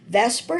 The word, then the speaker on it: VSEPR: dot into Vesper model Vesper stands for valence shell electron pair repulsion and no we know this word would not be pronounced Vesper but that's what every chemist calls it so it's the valence